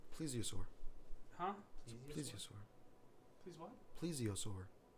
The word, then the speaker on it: plesiosaur: It is pronounced. Plesiosaur. Huh? Plesiosaur. Please what? Plesiosaur. Plesiosaurus.